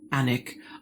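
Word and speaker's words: Alnwick: Barter Books in An the town is actually spelled A L N W I C K but pronounced Anic.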